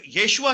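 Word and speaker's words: ישוע: याशुआ करते हैं ये, जिस हाल के याशुआ जो है ये रॉन्ग प्रोनाउंसिएशन है। दरअसल ये लफ्ज येशुआ हम मशीह लफ्ज है,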